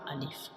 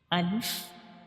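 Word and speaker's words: ألف: So Alif is pronounced from the empty space of mouth.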